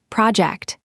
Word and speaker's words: project: Question 1, where is the stress in the noun project? The answer is the first syllable, project.